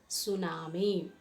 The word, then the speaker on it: tsunami: an undersea earthquake and how to pronounce tsunami t is a silence you should not repronounce the word tsunami it is tsunami and tsunami cannot be